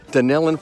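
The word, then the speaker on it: Dunnellon: It's spelled different, but it's spelled different, but it's spelled different, but it's pronounced the same way, if I can pronounce anything at all.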